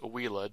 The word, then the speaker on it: Uila: It is pronounced Uila, W-E-E-L-A-H, even though it's spelled U-I-L-A.